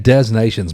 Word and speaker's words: des Nations: Say that again, Des Nations, my man. Thank you for Yes. knowing the proper pronunciation.